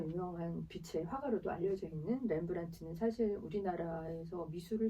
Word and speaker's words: 렘브란트: 화가 렘블란트는 100점에 가까운 자화상을 남겨서 미술사에서 가장 많은 자화상을 남긴 화가 중에 한 명으로 꼽히고 있는데 그의 자화상을 들여다보면 어떤 걸 읽을 수 있나요? 렘블란트라고 읽으죠. 렘블란트. 렘브란트.